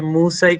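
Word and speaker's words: Μοῦσαι: Mejoraste la pronunciación porque pronunciaste Musai como tenía que ser.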